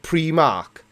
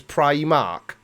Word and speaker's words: Primark: you rob I'm called we call it pre mark but apparently the correct pronunciation is Primark so is it pre